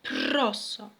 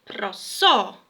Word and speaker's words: prosto: niż w języku polskim jeśli mamy tutaj w tekście prosto jeśli mówimy o słuchać prosto prosto natomiast będziemy śpiewać prosto prosto i to jest właśnie ten akcent zmieniony troszeczkę on jest tak jakby pod włos jest odwrócenie tego akcentu i to nie tylko